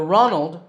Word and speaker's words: Ronald: and his name is Ronald McDonald the Ronald rhymes with Donald another fast food company